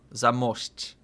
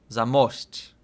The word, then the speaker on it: Zamość: Wait, I say it wrong. Zamość. Zamość. Zamość.